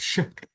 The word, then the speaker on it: chic: this word okay Outlook shck this is shck not a check check yeah so check